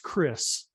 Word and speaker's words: Kris: nashville tennessee right yeah scott and uh it's pronounced chris so it may look like dan but it's